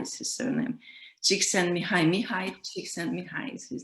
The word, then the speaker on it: Csikszentmihalyi: a very difficult surname, which is challenging to pronounce. Csikszentmihalyi is his surname. Csikszentmihalyi is his name.